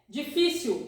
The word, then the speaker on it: difícil: Difícil is difficult. You see here the accent also, the signal, difícil, difícil, difícil.